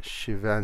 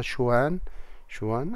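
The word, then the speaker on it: Schwann: إذن هل نسميها شيفان سيلز بالنسبة إلى العالم الألماني شيفان، لكن أحيانا ننطقها شوان أيضا ينفع.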